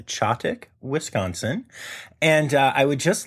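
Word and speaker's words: Chetek: I am wildly appreciative of that, Kim, because I 1000% would have said Cheddick. Cheddick, like cheddar. I don't know. Anyway, but in Chottick, Wisconsin, police deputies had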